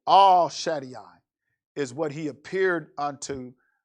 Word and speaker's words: El Shaddai: he appeared unto me now we say el shaddai but the first letter of the hebrew alphabet is not el it's all so all shady i is what he appeared